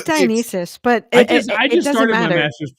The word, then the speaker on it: Dionysus: I keep saying Dionysius, and I think it's Dionysus, right? I don't know. I'm not Greek. I could care less. It's Dionysus, but I just started matter.